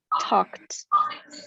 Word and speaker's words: talked: Talk, talked. There's no extra syllable there. It just blends right into the next sound. Talked. Oops, what did I just tell you? It's a T sound.